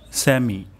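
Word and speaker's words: سمع: প্রথম শব্দটি হলো সা মি, স্যামি। আল্লাহ, এখানে আমাদের আল্লাহ হয়ে যেতে পারে, তাহলে এখানে আমরা আইন উচ্চারণ করব গলার মাঝখান থেকে।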